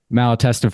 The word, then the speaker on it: Malatesta: because most people just Malatesta for some reason is just too hard. Although it's much easier because phonetically it's exactly how it sounds, where yours just gets a little tricky there with the last T.